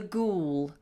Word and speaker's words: ghoul: It's called The Ghoul. And a ghoul is a kind of a monster. All right, it has a funny spelling and the H is silent.